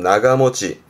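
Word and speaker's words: 長持ち: 그러니까 오랫동안 가지고 있다는 뜻인데 발음은 나가모치.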